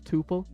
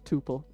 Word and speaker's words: tuple: way of doing it see I say Quin tupal is that incorrect so maybe it is tupal I don't know I I'm I'm sure both pronunciations are okay um I I I've always said Tuple and uh someone said the other day that I they thought it was topple yes that is a